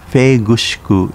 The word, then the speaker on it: Nanjo: Nanjo City, pronounced Feigushiku in Uchinaguchi, was formed in 2006